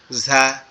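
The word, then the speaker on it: ز: এটার উচ্চারণ কিভাবে হবে, আমাদের জিহ্বার আগা, সামনের যে নিচের দুইটা দাঁত, অর্থাৎ এই যে দুইটা দাঁত আছে, এই দুইটা দাঁতের উপরে, দাঁতের সাথে লাগবে, দাঁতের আগা সাথে লাগবে, ঠিক আছে? ঝা, ঝা, ঝা।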